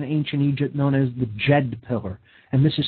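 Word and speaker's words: Djed: a pillar in ancient Egypt known as the JED pillar and this is spelled DJ ed Jed it's pronounced ok so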